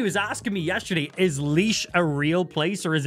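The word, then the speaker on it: Laois: read the word leash cuz most people will see the spelling of leash leash is awes another area in Ireland and most people read it as like La I think the way it's spelled it's like LA but uh it's leash so I think I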